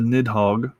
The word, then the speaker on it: Nidhogg: Norse mythology neo elfin anglicized to nidhogg which is exactly how i'm gonna pronounce that as a dragon slash